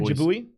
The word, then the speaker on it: Jabui: Is that pronounced Jaboy or Jabui? Jabui. It's Jabui. So Jabui.